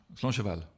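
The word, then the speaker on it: Slàinte mhath: Slancheval.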